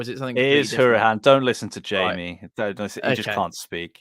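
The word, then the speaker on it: Hourihane: I watched a podcast about him trying to pronounce his surname. It is Hourihan, isn't it? Or is it something? It is Hourihan.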